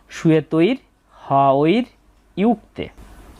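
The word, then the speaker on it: শ্বেতৈর্হয়ৈর্যুক্তে: তাহলে আমরা সহজে বুঝতে পারছি এই শব্দটাকে তিনটা শব্দাংশে আমরা উচ্চারণ করছি। সু তর হওর ইউতে এরপর আছে মহতি বাংলা উচ্চারণের মতই এরপরে রয়েছে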